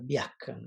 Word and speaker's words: biacon: e to that so now we have uh biacon right so that's the k sound that the q u makes and the u is silent so for he got